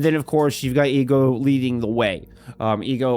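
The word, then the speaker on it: HEGO: It's H E G O. I've heard it pronounced it's to my Texas tongue and Texas ear. It sounds more like ego than anything else. So that's what I'm going with.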